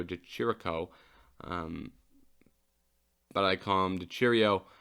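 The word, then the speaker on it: Di Chirico: good win over Alessio Cheerio um I know that's not how you pronounce his name but that's how I've found myself to be pronouncing his name it's Alessio de chirico um but I calmed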